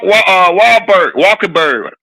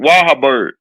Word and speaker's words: Wahlberg: Yeah, Mark Walkerberg. How you say his name? Wahlberg.